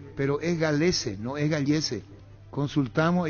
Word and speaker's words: Galese: Yo decía Gallese equivocadamente. También Denis, Víctor y Jorge el Niño. El apellido Óscar Acosta es Galese su pronunciación. Nos confirmó el señor Eddie Fleischmann. Es Galese, no Gallese, el arquero peruano.